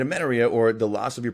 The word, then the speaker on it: amenorrhea: Amenorrhea. Amenorrhea, right? Amenorrhea, or the loss of your period altogether, right?